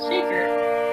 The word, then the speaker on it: Shekhar: big thing you know i say my name is shaker though our identities are